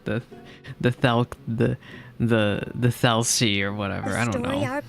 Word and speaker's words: Thelxie: Thelxie, that's how you pronounce it. See, I had no idea. I was calling it like the Thelxie or whatever.